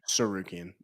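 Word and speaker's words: Tsarukyan: Um Arman Turgian Sukian Sukian T is silent.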